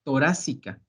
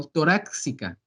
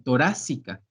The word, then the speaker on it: torácica: La forma correcta de escribirlo y de pronunciarlo es caja torácica, con una C en lugar de la X, no torácica, sino torácica.